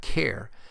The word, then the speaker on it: char: is the type of char you may hear people pronounce it as type care since it is short for character but I've always pronounced